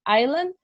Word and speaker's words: island: to repeat the word Island till they can't pronounce it very well so remembered that in the word Island the S is not provided Asura is not pronounced additionally the teacher follows